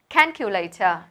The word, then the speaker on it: calculator: Calculator. Trọng âm đầu tiên, đây là một từ có 4 âm tiết. There are 4 syllables and the first one is stressed.